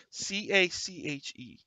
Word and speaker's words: cache: Is it cache or cache? C-A-C-H-E. I think both are. I think both are fine. Mhm. I like cache better.